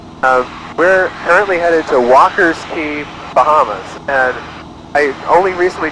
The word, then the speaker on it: Walker's Cay: where we're headed um we're currently headed to Walker's ke Bahamas and I only recently today learned that it's actually pronounced Walker P despite being spelled Walker K